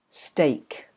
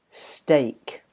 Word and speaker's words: steak: that's lucky and chetta steak steak it's not pronounced like weak although the spelling might convince you otherwise be careful um other